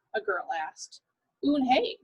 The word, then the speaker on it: Unhei: name a girl asked oon hey said wuhan uni the girl ass scrunching up her face some kids chanted no no corrected it's spelled u-n-h-e-i it's pronounced oon hey oh it's you hey